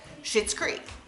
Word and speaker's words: Schitt's Creek: like well what about shits Creek which if you see down there in the title you can see that it's it's pronounced in one way but it's spelled another which is why and